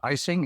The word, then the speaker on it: Eising: E number one and my last name is icing it's that stuff that you put on the cake I have over 30